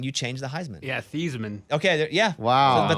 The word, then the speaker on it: Theismann: change the heisman yeah thiesman okay yeah wow but they changed it just to rhyme with heisman wow um so yeah